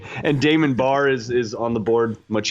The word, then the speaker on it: Damon Barr: And Damon Barr is on the board, much easier to pronounce. We are pronouncing that right. Yeah, much harder to confuse that one. It's not Damon Bahar, it's Barr.